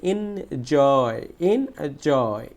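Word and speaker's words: enjoy: তাহলে জয়টা হচ্ছে স্ট্রেস সিলেবল, কারণ এটাকে ক্যাপিটাল লেটারে দেখানো হয়েছে। তাহলে এই জয়টাকে আমাকে কি করতে হবে? জোরে উচ্চারণ করতে হবে। দেখো তাহলে প্রথমে হবে ইনজয়।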